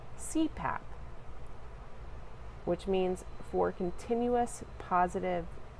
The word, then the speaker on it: CPAP: An acronym is an abbreviation made up of initials that can be pronounced as a word, such as CPAP, pronounced CPAP, which means for continuous